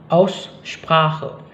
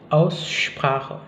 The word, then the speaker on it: Aussprache: Itu berlaku pada SP yang berada di awal kata. Hal ini juga berlaku jika SP itu ditemukan di tengah kata, tapi sebenarnya itu berasal dari kata dasar yang berawalan SP, misalnya Aussprache, gitu ya. Aussprache, jadi bukan Aussprache.